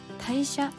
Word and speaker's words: 大社: た部分は簡単ですねこれは代謝と読みます出雲大社は日本最後